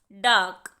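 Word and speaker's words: dark: डार्क नहीं पढ़ेंगे, यहाँ पर आर की साउंड साइलेंट है, इसीलिए होगा डार्क।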